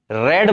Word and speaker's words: read: अब ये रीड है, थर्ड फॉर्म इसकी रेड बोलते हैं, स्पेलिंग यही होती है, तो इसके कहेंगे हम रेड, READ।